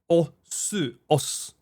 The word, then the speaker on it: Osu: It has a lot of different os. We don't pronounce the u at the end.